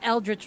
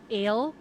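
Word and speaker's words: Eldritch: is delicious excuse me it's not elrich blast it's ELR blast okay okay fair the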